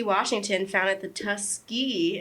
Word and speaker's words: Tuskegee: Washington founded the Tuskegee. Am I saying that right? Tuskegee. Yes, you're saying it right.